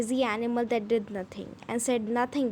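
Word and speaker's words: Djinn: करें व निकले व जैन बोस आठ है स्विट्जरलैंड और जीवन जो क्लेवर चतुर चलना आंख जिन था ठीक है यह दी है ना यह साइलेंट होगा इसको बोलेंगे इसको सिर्फ जिन बोलेंगे उसकी जो विद टैबलेट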